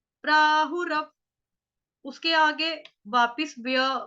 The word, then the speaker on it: प्राहुरव्ययम्: आघात किसका आएगा, आधे व का, व्यक्ति वाला जो आधा व होता है, वो वाला गोल वाला होता है ना, ओ की तरह जो छोटा सा लगता है, रव, रव, रव, प्राहु रव, प्राहु रव।